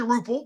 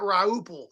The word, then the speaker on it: Rupple: Yeah, it's actually Rupple, but that's fine. Rupple. Okay. Rupple. Got it. Excellent. That's okay. When I got signed by the Mets, they on the TV thing they pronounced it Rauple. They threw an A in there, so they added a